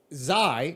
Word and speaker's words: Xi: Xi.